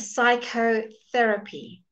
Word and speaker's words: psychotherapy: that's the rule but here we just leave out the P and we go psychotherapy do you notice the